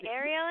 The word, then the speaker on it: Ariel: came on is that you ariel am i pronouncing your name right ariel yep you got me ariel you got it just right oh my